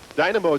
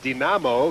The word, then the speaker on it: Динамо: there but this uh dynamo team and then uh i guess we were using correct russian we would say dinamo right that's how they pronounce it there um however it has